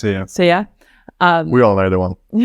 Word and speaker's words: Sia: Is that how you pronounce it? Sia? Sia.